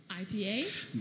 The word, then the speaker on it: IPA: Actually, Peter at Genus New Brew told me it was pronounced IPA. IPA. It is, yeah. That's the correct pronunciation. For those you don't know, it's IPA. I did not know that. Which makes the rhyming. When it's a double IPA or an imperial IPA, IPA, it's pronounced IPA. IPA. Oh. IPA, the hard I.